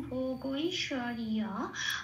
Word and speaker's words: ভোগৈশ্বর্য: তাহলে জকে জ বলবো না, না বলে কি বলবো? উপরে ব্র্যাকেটে চলে যাবো, ইয় বলবো। হ্যাঁ, তাহলে কি পেলাম? ভোগৈশ্বর্যা।